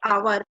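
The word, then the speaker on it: hour: ऐसे ही ये है जो आवर है ना, एच क्या है, साइलेंट है, हावर नहीं बोलते इसको, क्या बोलते हैं, आवर।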